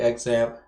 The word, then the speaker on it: XAMPP: ahead and start xampp or shamp however you pronounce it it is technically pronounced shamp i believe according to the developer of that but i say exam and partially because i'm